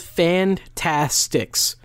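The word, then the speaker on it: The Fantasticks: have the Fantastics so it's called Fantastics um it's called the Fantastics but it's spelled s-t-i-c-k-s um a very important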